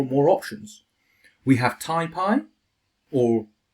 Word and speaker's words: TaiPy: more options we have tyi or if you like to pronounce numpy is nump then taip I guess but taii is one